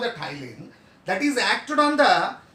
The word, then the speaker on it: ptyalin: Scientific name of the salivary amylase is called ptyalin. What we call? Ptyalin. P silent. So that's why ptyalin. Okay, clear? P-T-Y-A-L-I-N. Ptyalin. But P silent. Silent letter.